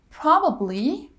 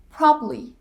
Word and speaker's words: probably: excuse me excuse me probably probably probably that middle syllable is dropped probably interview interview 20